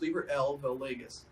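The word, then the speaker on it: Liber AL vel Legis: valegas it's spelled libra a l but it's pronounced libra l valegas and it's also known as the book of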